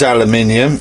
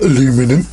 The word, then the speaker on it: aluminium: I think that might actually be aluminium, and it is aluminium, not aluminum.